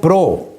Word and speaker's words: Prout: کو کہتے ہیں ولیم پرو، سپیلنگ لکھیں گے PROUT، مگر ٹی سائلنٹ ہے پڑھنے میں، ولیم پرو۔ تو 1785 سے 1850